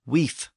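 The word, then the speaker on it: wīf: In Old English, the word was spelled W-I-F or win-I-F, and it was pronounced weef with an F sound at the end.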